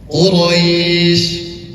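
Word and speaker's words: قريش: Quraisy kalau kita bisa artikan per kata, mad artinya panjang. Li'ilafi Quraisy, panjang. 2, 4, atau 6 harakat, tergantung kepada tempo yang digunakan.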